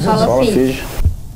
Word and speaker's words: sola fide: Sola fide. É essa a pronúncia, professor? Faz a pronúncia. É isso aí mesmo. Isso mesmo. Sola fide.